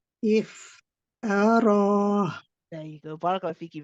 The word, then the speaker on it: افتراه: We don't say ta. Okay, it needs to be ta. The ra is heavy. So we say ta, ra, ta, ra, ta, ra.